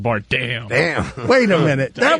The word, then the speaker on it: Bardem: I don't know how to pronounce it either. It's Bardem, but you made him into Jean-Claude Van Damme. Yeah, it sounded like Bardem.